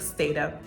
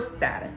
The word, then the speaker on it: Stata: You gotta be able to know how to use programs like Excel and statistical programs like Stata or Stata, depending on how you pronounce it.